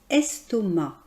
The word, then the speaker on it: estomac: On prononce ce nom estomac. Vous remarquerez qu'on ne prononce pas le C final.